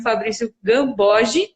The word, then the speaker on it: Fabrício Gambogi: do Bri, que é o Instagram do Fabrício, que no YouTube vocês podem procurar como Fabrício Gambogi, né? Assim que se pronuncia.